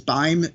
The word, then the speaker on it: Beim: My last name is Beim, B-E-I-M, rhymes with time.